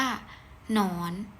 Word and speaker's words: หนอน: เป็น หนอ หน ออ น ก็ อ่าน ว่า หนอน ตัว อย่าง ที่ 2 หอ นำ ยอ เป็น